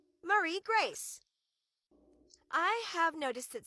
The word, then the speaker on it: Marie Grace: Marie Grace. I have noticed that sometimes people say Mary Grace or type Mary Grace in instead of Marie Grace.